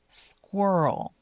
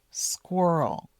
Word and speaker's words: squirrel: Squirrel. Squirrel. Make sure you pronounce the the qu sound. The sc squirrel. Otherwise, it might sound like swirl or squirrel.